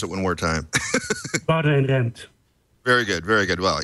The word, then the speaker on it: Boudewijn Rempt: And would you go ahead and say your name, because I didn't want to mispronounce it one more time. Boudewijn Rempt.